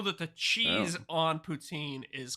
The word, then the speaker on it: poutine: And I think technically you're supposed to pronounce it poutine, but nobody does that.